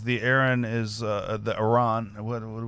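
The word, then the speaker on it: Arran: of the state again Aaron Aaron gotcha I keep putting on fossil our rhymes with car horn RN malt which displays a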